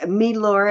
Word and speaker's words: Milor: and it's the um or milor as Mara would say it's um which she's probably correct she knows those European um pronunciations better than I do but um she weird m i l o r let's put it that